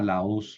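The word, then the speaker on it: λαός: Y termino con una palabra muy utilizada, la os, la u es una oxítona. Entonces, nunca se va a mover el acento de la última sílaba.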